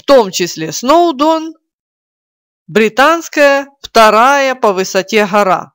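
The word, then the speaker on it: Snowdon: сноудон она в уэльсе слово сноудон - это собственное название и оно естественно никак не переводится так как иже как Обратите внимание ударение на первый слог едем дальше язык Обратите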